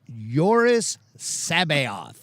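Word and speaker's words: Jorus C'baoth: lot for his name caboa kaboa the Jedi that was I think I never knew how to pronounce it the way Timothy Zan pronounces his name is yoris Sabo that's how he pronounces it the first time I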